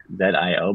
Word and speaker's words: Zio: uncle it's Zio, like Z-I-O. But how they say it kind of sounds like they're saying Dio, Zio.